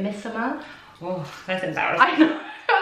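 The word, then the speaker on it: Missoma: You pronounce it Misoma.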